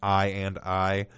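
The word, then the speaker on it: i,i: i come i i which is pronounced i and i and then king gives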